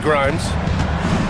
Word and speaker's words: Grimes: Pass to Watford outside Grimes. Back to Watford. And there's the slam dunk to finish it off. grinds rhymes with dimes on time right there.